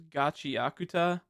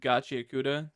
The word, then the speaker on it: Gachiakuta: talk about is uh there's like two ways of pronouncing it and both are technically right. There's there's gachiakuta and gachiauda. They're both right no matter the way you say it, but I